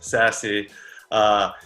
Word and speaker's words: SASE: So Secure Access Service Edge, as you mentioned, Jennifer, pronounced SASE.